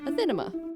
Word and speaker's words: Athenema: My name is Athena, and this is my channel, Athenema. Yes, that is how it's pronounced. I've heard all sorts of mispronunciations of it by now, so there you have it.